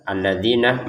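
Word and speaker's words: الذين: Ketika kita membaca dari awal alladzinah, maka a-nya ini terbacanya adalah a. Jadi huruf fathah. Huruf alif berharakat fathah.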